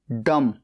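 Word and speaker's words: dumb: ए एफ डेफ बहरा डी यू एम बी डम गूंगा यहां पर बी साइलेंट है एल ए एम लेम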